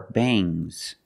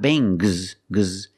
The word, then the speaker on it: bangs: about NG plus s when you have S after NG it makes the nasal sound M but it also makes a little G sound but not a hard strong G these are bangs bangs there's a little G but it's not bangs G softer bangs I don't have bangs